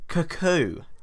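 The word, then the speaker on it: Kokou: Cuckoo, I think, although that sounds like a really funny name for an Orisha. Oh, yes, I've heard of his famous clocks. It's spelled K-O-K-O-U. cocoa. It must be cuckoo.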